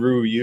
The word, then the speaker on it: Ryu: And I don't know if you spoke about their new ace, Jin Ryu. Am I saying it right, Jim? In Ryu, yep.